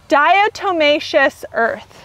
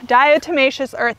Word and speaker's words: diatomaceous earth: say this and i'm gonna say it wrong diatomaceous earth diatomaceous earth you might see it in gardening groups people